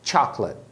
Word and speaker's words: chocolate: Um detalhe é a pronúncia da palavra chocolate, que se escreve igualzinho em português, mas você deve pronunciar com 2 sílabas. Chocolate. A pronúncia em inglês é essa, chocolate.